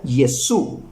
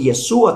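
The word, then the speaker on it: ישו: nombre de Dios y concuerda con el hebreo que se pronuncia yesu ni yesua tampo para los judíos yesua tampoco Es solamente los mesiánicos afirman que se pronuncia yesua es yesu y jous en griego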